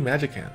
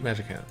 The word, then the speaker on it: Magicant: the Japanese um Thea it's definitely a hard C so it's like a k sound so if anybody was